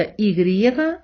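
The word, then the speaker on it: i griega: означає грецька і отже і з крапкою та ігрієга вимовляються однаково продовжуємо знайомство з іспанськими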